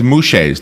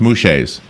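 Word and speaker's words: muxes: oh oh here it is it's known as mu Shay's the mouche is mu X es is pronounced mu Shay's I have a pronunciation guide here ok these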